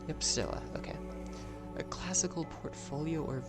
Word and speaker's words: stoa: It's pronounced how? Yep, stoa.